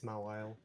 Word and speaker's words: Mawile: how do you spell that? I was M considering. A W I L E. Yeah, it's Mawile.